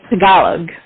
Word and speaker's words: Tagalog: cookie called Tagalongs it's basically look at that Tagalog like without the end but um yeah so